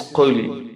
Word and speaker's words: قُلْ: Qul. Remember, there is difference between kha sound and qaf sound. Qaf. Qaf. This is qul, not qul.